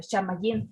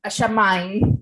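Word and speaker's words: שמים: en hebreo es shamayim, la palabra shamayim, no Ashamayim. Ricardo me corrigió en la pronunciación, que no sé hebreo.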